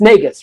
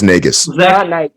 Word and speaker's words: Nagus: be the the Nate I keep saying it wrong it's negus right it is nagus so that's who I